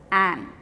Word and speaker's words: an: We had also learned that an is used before the word where H is silent. We do not say har, we say r. So, though the spelling is H-O-U-R, we do not say hour, we say r. So, where the letter H is silent, you do use an.